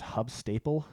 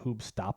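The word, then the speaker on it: Huub Stapel: Like I said, the lead guy, I think his name's Hub Staple, and it's probably pronounced like Hoob Stapel or something like that.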